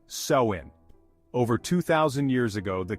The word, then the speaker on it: Samhain: to the ancient Celtic Festival of samhan pronounced sein over 2,000 years ago